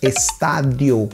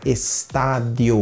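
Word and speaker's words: estadio: forma mais uma lei variação na pronúncia estádio o de bem suave estádio o estádio exemplo estável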